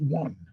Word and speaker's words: won: Well, you pronounce it one.